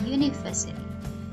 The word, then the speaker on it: university: Dan ini dia tidak mengikuti huruf u, tapi cara pengucapannya yaitu university. We never say an university, it's wrong. We say a university.